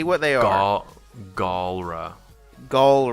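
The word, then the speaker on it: Galra: it say it say what they are all Gaul rah goal right okay you have the gall to mispronounce their name okay go uh I'm gonna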